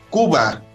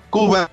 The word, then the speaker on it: Khuba: Por supuesto, de hecho, ahora traemos una recomendación del grupo Kuba. Se escribe K-H-U-B-A. Kuba, que nos trae la canción El Océano de Dios.